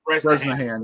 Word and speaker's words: Bresnahan: And for your New York Giants, leading off is, how you pronounce that, Beatles? Bresnahan. Bresnahan. Bresnahan, yeah.